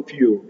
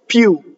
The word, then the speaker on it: più: This I is invisible. It's just a semivowel. più.